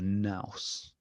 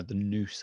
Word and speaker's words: nous: of the heart or the nous no The Noose I think it's pronounced in Greek The Noose is like this principle